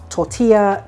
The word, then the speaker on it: tortilla: Quick note for non-Spanish speakers, if you see a word, like a Spanish word that's double L, that's pronounced yo. So tortilla, calle, it's not la.